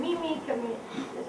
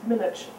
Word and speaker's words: Minic: name, but Bohr and Mimic, all these people, didn't get discouraged, and it's Minich. I'm sorry? It's Minich with an N.